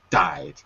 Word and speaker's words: died: project by the way be careful with died because it sounded like yeah that's it it sounded like you were saying two syllables but it's just one died died okay all right okay